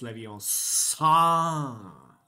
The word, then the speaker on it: Leviosa: No, it's pronounced Leviosa. Leviosa.